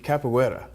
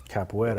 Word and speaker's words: capoeira: little bit so you're you're you're deep into capoeira capoeira I pronounce that right yeah Deborah wetter it's a